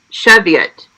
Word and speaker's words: Cheviot: bad whoo okay so according to online it is pronounced Cheviot okay oh cool I'm